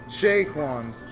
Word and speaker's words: Chez Quans: owner of Chez Quans. How's it going? Chez Quans. That's C-H-E-Z, Quans. So, Silent Z. so we're gonna come. The Z is silent like lasagna.